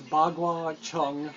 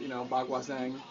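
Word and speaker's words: Baguazhang: It says Bagua Chung, which is not the way that it's pronounced, Bagua Zhang.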